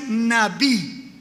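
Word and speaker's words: נביא: Se escribe N-A-B-B y se va a pronunciar Nabí.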